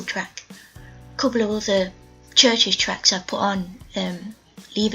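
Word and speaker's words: CHVRCHES: listen to the next band is pronounced churches but it's felt like really funny he's felt like CH v r CH es they I recently got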